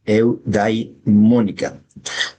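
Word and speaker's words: eudemónica: A ver, vamos a pronunciarlo bien. Eudimónica.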